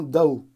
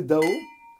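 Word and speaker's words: Dão: Pour bien prononcer Dao, il faut être enrhumé, ou s'appeler Jean Gol, ou avoir ses doigts dans son nez.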